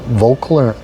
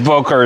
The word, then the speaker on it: Volker: broker for Volker, and I think it's called Volkler and I can't Anders. pronounce it either. It's Volker is the right name.